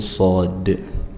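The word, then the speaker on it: ص: Nah, shad diucapkan dari dekat ujung lidah. Nanti dia posisinya agak sedikit ke atas gigi seri bawah.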